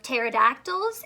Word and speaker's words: pterodactyl: in the time of pterodactyls asked silent P the word pterodactyl silent not quite so